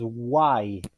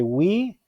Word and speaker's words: why: está acuérdense siempre que la pronunciación es guay cierto como si dijeran haber algo así como como un como white list of why know y porque we como muchos lo pronuncian muchos descuentos al principio lo pronuncia en wii quiere decir nosotros si no entonces vamos a decir guay guay que significa por qué en pregunta listo